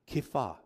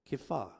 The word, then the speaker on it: Kepha: So Peter's new name was actually Kepha. Kepha.